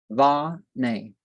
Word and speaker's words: Vana: It is pronounced in the feminine form, or like va-nay.